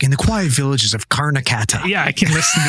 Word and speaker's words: Karnataka: Karnataka, that's how you say it.